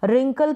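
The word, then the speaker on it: wrinkle: complete ना कर दे रिंकल की स्पेलिंग लिखेंगे तो डब्लू से शुरू होगी लेकिन डब्लू बोलते वक्त साइलेंट रहेगा रैप रोंग राइट तो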